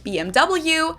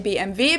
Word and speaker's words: BMW: And in German, in English, people say BMW. In German, we say BMW because W is pronounced W in German, and it stands for Bayerische.